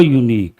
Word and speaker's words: unique: How do you pronounce this unique yah sound that is a consonental sound because a sound is consonental we have to use a unique not and an.